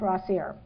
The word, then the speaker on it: Rossier: is how to pronounce rossier so r AER rhymes with career and the meaningful careers